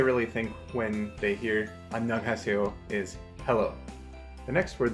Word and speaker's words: 안녕하세요: So, seyo is se plus yo, but it sounds like say yo.